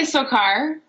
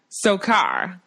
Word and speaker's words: Sochar: Is it Sochar? You can say Sokar. Sokar. Yeah, there's really no right or wrong way.